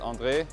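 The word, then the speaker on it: André: name then because I grew up in Belgium um my name's pronounced Andre so they call me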